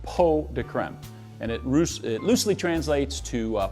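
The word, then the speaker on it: pots de crème: chocolate po de creme it's spelled pots to creme but it's actually pronounced po de creme and it loosely translates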